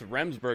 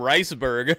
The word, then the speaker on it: Remsburg: He called him Riceberg. There you see, trying to pull himself. I knew I heard Shivani mispronounce his name. He called him Riceberg. He mixed his first name and his last name together.